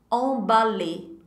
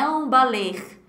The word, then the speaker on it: emballé: Emballé. Emballé. Attention, não pronuncie esse R aí no final não, tá? Não é emballer. Emballer.